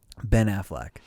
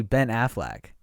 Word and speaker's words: Affleck: a-f-f-l-e yeah i but i always say ben affleck like like like as if he's the owner of aflac like with the duck and i'm like am i banana am i saying it wrong is it is it a fleck no it's definitely a